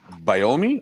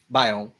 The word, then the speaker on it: biome: The African savannah biomi, is that how you say it? Biome.